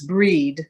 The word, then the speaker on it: Brigid: many names for bridget she's sometimes called brigada brigitte with a t and sometimes breed spelled like bride but she's known to